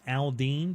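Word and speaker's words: Aldine: It's actually Aldean, but it's spelled A-L-D-I-N-E, not D-E-A-N.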